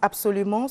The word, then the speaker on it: absolument: Vous dites, se prononce absolument, se prononce abs. Oui. Comme tous les mots commençant par abs.